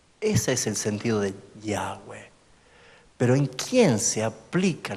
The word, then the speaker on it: Yahweh: Porque la intención es esta: Yahweh, Yahweh, Yahweh. ¿Se entiende? No se puede pronunciar, es un sonido, Yahweh. Es como nosotros respiramos, todo lo que respira alabe al Señor. Todo lo que respira dice Yahweh, Yahweh. Escúchese, suspire. Ese sonido es Yahweh.